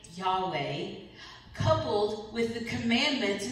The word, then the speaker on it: Yahweh: And so the name YHWA, which we pronounce Yahweh, it's the most common term by which God is spoken about in the Bible.